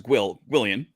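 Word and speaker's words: gwyllion: And so the plural of Gwil, that is Gwillian, which sounds like William. I don't think there's actually any reason for it other than that. And whether you pronounce the G or not, it depends on the person.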